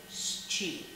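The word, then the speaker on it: щи: how to pronounce is cheap they say cheap once again three consonants SCH make that one sound in Russian we have a specific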